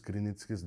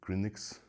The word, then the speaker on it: Krynitskis: my name is Krynitskis. That's how you pronounce my Lithuanian name correctly. Because a lot of people been pronouncing it Krynix, but I know you